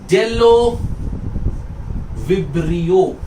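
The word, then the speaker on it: Bdellovibrio: एक और बैक्टीरिया का नाम आपको याद रखना है, इसका नाम है डेलो विब्रियो। याद रखिए, डेलो विब्रियो। डेलो, बी is silent, but डेलो विब्रियो नहीं बोलते, डेलो विब्रियो।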